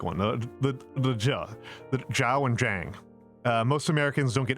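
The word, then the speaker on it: Zhang: pronounce an X as an SH or they pronounce a Z as a J. That's a really big one. the the jiao and jang.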